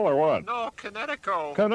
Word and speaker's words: Kinetico: I thought the instructor said Connecticut. You should have remembered kinetic as in kinetic energy with an O on the end.